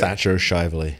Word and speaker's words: Thatcher Shivley: Thatcher Shivley.